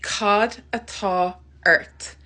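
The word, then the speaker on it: Cad atá ort: say what's wrong in Irish you can say Cod at Earth Cod at Earth which literally means what is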